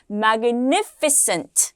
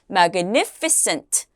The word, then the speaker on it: magnificent: magnificent, 같이 한번 읽어볼까요? 시작! magnificent. cent 아니고 어떻게 해요? cent라고 발음해 주세요.